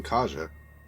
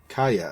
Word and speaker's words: Caja: are true kaya oh i've been pronouncing it wrong this whole time saying kaja kaya okay well there you